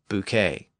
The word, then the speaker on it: bouquet: s or t so words that have a silent s or T at the end are usually lone words from French words like debris buffet and Bouquet I also noted in